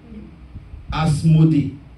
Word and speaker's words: Asmodée: Asmodée. A-S-M-O-D-2-E. Donc, E muet, disons. A-S-M-O-D-E muet. 2 E.